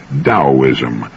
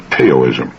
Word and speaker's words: Taoism: beneficial I found his discussion of the Chinese taoism of particular interest now that's spelled t-a-o-i-s-m and often mispronounced Teo is Taoism the Tao signifies the energy of the